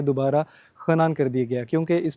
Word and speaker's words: Henan: आज के इस वीडियो सेशन में हम खनान मेडिकल यूनिवर्सिटी को कंप्लीट विज़िट करेंगे। इसको चाइनीज़ प्रोनाउंसिएशन में खनान कहते हैं, आप इसको हिनान भी कह सकते हैं।